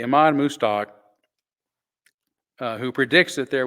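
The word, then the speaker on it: Mostaque: Ahmad mustak who predicts I keep pausing because it doesn't look like moose talk but that's how you say it I remember cows you know in the stockyard that's that's what helps me move stock move stock anyway Iman mustak uh who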